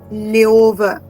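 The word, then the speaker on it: Löwe: We have a word called dare leover. Dare leover. And O is with umlauts. Dare leover. So L umlauts O W E.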